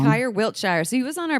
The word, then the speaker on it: Wiltshire: It's Kyer Wilshire. Wiltshire. I always say it wrong. Kyer Wiltshire.